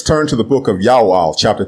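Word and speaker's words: יואל: to the book of Ya'al, chapter 2, verse 32. The prophet's name is Ya'al, not Joel, and it means Ya'o is God.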